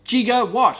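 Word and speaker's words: gigawatt: said no it's jiger it's pronounced j instead of Giga so I yeah jigo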